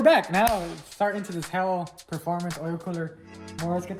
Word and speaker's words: HEL: It's pronounced HEL, H-E-L, not HEL.